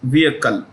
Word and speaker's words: vehicle: pronounce the word vehicle the H is silent so it becomes vehicle technology completely limited but